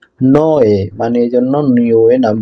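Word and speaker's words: Niue: এটার উচ্চারণ হয় নোয়ে, মানে এই জন্য নিউয়ে নাম দেওয়া হয়েছে।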